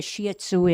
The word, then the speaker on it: Shih Tzu: a brief history of what a shatu is and that is the proper Chinese uh pronunciation yitsu is in Chinese